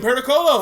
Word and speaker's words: Pericolo: Aiden Pericolo, how you doing?